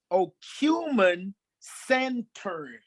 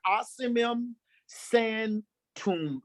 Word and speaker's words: Ocimum sanctum: We're dealing with holy basil, and the botanical name is Ocumen Sanctum. I'll spell it. Ocimum, Ocimum, I'm sorry, Ocimum Sanctum, Sanctum, Sanctuml.